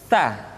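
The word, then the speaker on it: ث: mutti berikutnya n huruf tsa tsa dikeluarkan dengan menyentuhkan ujung lidah kita dengan dinding dua gigi seri bagian atas diucapkan dengan suara dan nafas yang terdengar mengalir tsa SII tu bat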